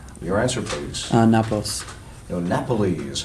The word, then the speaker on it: Napoli: No, Napoli is how they pronounce that.